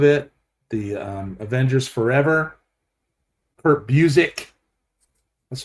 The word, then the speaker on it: Busiek: Kurt Busiek. That's how I pronounce his name.